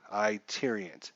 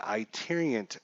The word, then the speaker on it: Tyrion: yeah bo knows baseball I tear Ian's okay I apologize for saying your name incorrectly it's the i tyrion hobbyist sorry hi tyrion ty tyrion I'll try and remember